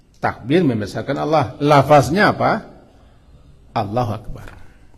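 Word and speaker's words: الله أكبر: membesarkan Allah lafaznya apa Allahu Akbar bukan Allah Kabir Allahu akbar J kita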